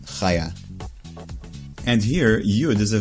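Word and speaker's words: חיה: It's also a female's name, usually pronounced Chaya.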